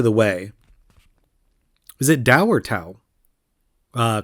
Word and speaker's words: Tao: way is it dower tau uh call into the show let me know if you prefer it pronounced tau or dao i think it's dao but it's spelled with a t so i'm going to